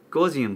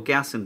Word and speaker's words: Gaussian: 7 has this beautiful new gaussian blur or gaussian blur depending on how you pronounce it the gaussian blur